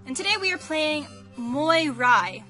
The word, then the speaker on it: Moirai: today we are playing mirai which may be a bad pronunciation because this is Greek more I is a Greek word that means fates from what I